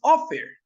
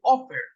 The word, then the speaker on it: offer: sentación está al principio aquí es offer no dice off sino que dice offer Ese es el acento que tiene en inglés esa palabra entonces cuando la última